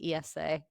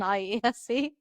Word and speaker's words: IESE: Yeah, and I've incidentally learned a new thing, which is that it's pronounced IESA rather than IESE.